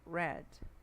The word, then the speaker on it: read: palavrinha é chatinha aqui read R é a mesma escrita no presente no passado e no particípio mas ela vai ter diferença na pronúncia em alguns sotaques então no presente Você pode ler Read de ler e no passado você vai ler como Red a cor vermelha não é Enfim deixa